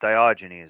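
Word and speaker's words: Diogenes: Dioynes, that's how that's how you say his name. Always have a trouble uh pronouncing it.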